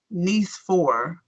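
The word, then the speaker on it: Nicéphore: e I don't know it's not pronounced nice as in very nice the French way of saying it sounds like nce four oh n four that's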